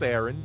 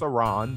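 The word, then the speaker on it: Aran: bounty hunter known as samus aaron or samus iran depending on how you pronounce it mother brain ridley creed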